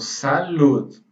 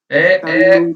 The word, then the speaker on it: salud: Na verdade, a pronúncia mais próxima seria como se você fizesse um U com um acento.